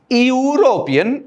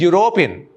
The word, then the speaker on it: European: there is no error it is not european it is european you european a european came